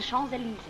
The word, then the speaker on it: Champs-Élysées: It's the Champs-Élysées. Did I pronounce that nicely?